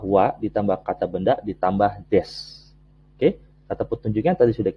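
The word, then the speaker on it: です: Ya, tulisannya desu, tapi dibacanya des, atau kadang u-nya terdengar sedikit, des.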